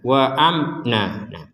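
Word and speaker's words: وَأَمْنًا: Amna wa Amna Nah di sini juga ada fathatain ya fathatain atau tanwin ini kita barusan bacanya wa Amna nanya di sini dibaca Dua Har du dua harakat karena fathatainnya ini kita berhenti di sini jadi wa amnan sekali lagi ini tulisannya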